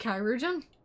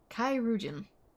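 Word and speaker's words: chirurgeon: But it's imperative we get him inside and into the care of a Kaouin without delay. And it's pronounced Kyuan. Like Chimera. Kyan.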